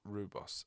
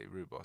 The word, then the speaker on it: rooibos: Rooibos. Oh, I see. Rooibos, South African name. Rooibos.